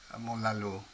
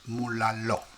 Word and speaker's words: Mulaló: Actually, I think I'm pronouncing this wrong, because in Spanish, when the stress is on that little thing at the top of the O, it's called the stress, the accent. It should be pronounced Mulalo.